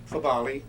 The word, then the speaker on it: Fabale: Fabale, the last name F-A-B-A-L-E.